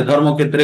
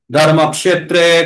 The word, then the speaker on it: ধর্মক্ষেত্রে: আছে উচ্চারণ ঠিক আছে তবে একটা জায়গাতে একটু জোর দিতে হবে যেখানে যেখানে মাথায় দাগ দেওয়া আছে না সেখানে ধর্মক্ষেত্রে কুরুক্ষেত্রে এরকম বলব না ধর্মক্ষেত্রে কুরুক্ষেত্রে এই যে এইযে ধর্মক্ষেত্রে কুরুক্ষেত্রে মাথাতে যে ডবল দাগ